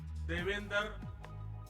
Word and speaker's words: Devendra: I said that their name, Devendra, rhymes with my own name, Narendra. I understand their emotions.